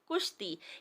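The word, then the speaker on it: کُشتی: لفظ بن گیا کشتی، کاف کے اوپر پیش لگا تو لفظ بن گیا کشتی، یعنی زیر اور زبر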